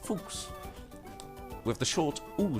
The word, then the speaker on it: Fuchs: fuchsia is the German term for Fox and pronounced fooks with the short all sound Fox okay